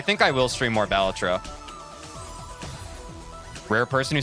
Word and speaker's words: Balatro: But I think I will stream more Balatro. Rare person who says Balatro correctly? Wait, how do most people say Balatro? Balatro versus Balatro.